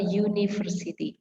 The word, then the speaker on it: university: Contohnya ini, a university.